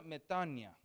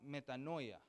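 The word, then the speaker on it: μετάνοια: En la palabra griega se pronuncia metania, lo decimos metanoia, ¿verdad?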